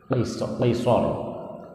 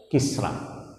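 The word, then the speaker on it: كسرى: jadi orang Arab membacanya qisor qisor Tetapi kalau untuk ee orang persi mereka punya logat kisra kisra kan tulisan arabnya juga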